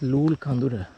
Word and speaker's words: Loolecondera: lulkondera on many of the maps but the pronunciation goes as lul khandura I will tell you why it is called